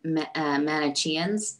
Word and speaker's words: Manicheans: Well, and I think it's I double checked this last time we had our Mary Magdalene conference, the Manicheans, I believe is how you say their name, they believe that Mary Magdalene was married to John the Baptist.